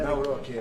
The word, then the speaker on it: Nawrocki: Gave me a little different pronunciation. I said, I want to get it perfect. Did I get it right? Yeah. Good. Good. I better, Nawrocki.